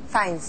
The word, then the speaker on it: Fiennes: Mais alors, et le nom de famille, se prononce comment, le nom Fiennes. De famille? Votre nom Fiennes. De famille? Fiennes.